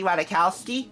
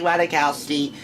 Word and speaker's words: Ratajkowski: you think of Emily Ratajkowski the J is silent and her name I looked it up